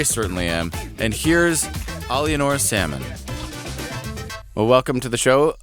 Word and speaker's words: Salmon: And my last name, which reads in English as Salmon, is actually my French last name, which is Salmon.